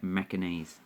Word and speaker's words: Macanese: And yes, that's how you say it, Macanese.